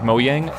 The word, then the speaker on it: Mojang: Mojang is pronounced Mojang. It's Swedish. They don't have J's. Like, Jumbo Jet would be Jumbo Jet.